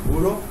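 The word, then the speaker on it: bureau: So here you are saying buro. Here you will say buro.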